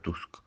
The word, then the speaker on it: Tusk: lo es desde luego se pronuncia como como lo leemos nosotros tú y el nombre sería donald tusk en polaco por ejemplo